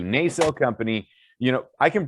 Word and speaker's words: Nacelle: second publishing through uh i can never pronounce they sell thank you nacelle company you know i